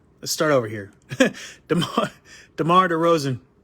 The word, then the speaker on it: DeMar DeRozan: still playing all right let's start over here demar derozan right all right i said it right okay